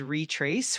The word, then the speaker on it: retrace: Uh, the word is pronounced as retrace with the emphasis on the second syllable. Um, the re is more like re and then trace is nice and clear.